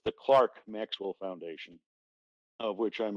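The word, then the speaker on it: Clerk: and british pronounce it clark like for american pronunciation pretends to e pretend the e is an a it's the clark maxwell foundation of which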